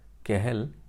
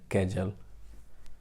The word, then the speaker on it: Cajal: Now over here, Cajal, it is Spanish word. So J is pronounced as H, but in India many times we speak it as a Cajal.